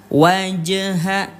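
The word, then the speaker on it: وَجْهَ: Jadi, Ayah Bunda, cara bacanya dipantulkan sampai berbunyi e ya. Waj wajha wajha ya harus ada pantulannya. Wajhaka liddini hanifa.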